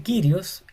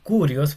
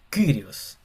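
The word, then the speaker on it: κύριος: Y se pronuncia Kyrios y no Curios porque parece una U. Hay gente que le dice Curios, otro le dice Kyrios, pero la pronunciación más cercana al original sería como Kyrios. Kyrios.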